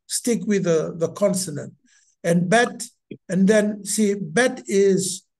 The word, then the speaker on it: Bet: And bet is bet. Bet. I know that you've got some people read it bay it, because that's how we speak English with A is R is A.